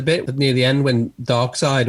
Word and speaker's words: Darkseid: near the end when darkseid or dark sea depending on how you say it gets older all